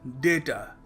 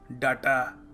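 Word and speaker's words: data: देखिए, अगला शब्द है डेटा। डेटा, हम क्या कहते हैं? हम कह देते हैं कभी कभी डाटा। डाटा, सो डाटा नहीं है, डेटा है, DAYTA।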